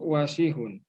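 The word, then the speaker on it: واسع: Al-mindilu wasihun. Al-mindilu wasihun. Oke, alhamdulillah mumtaz ya. Nanti untuk wasihun karena tidak ada yang panjang, pelafalannya ditekankan di huruf pertama, wa-nya berarti ya.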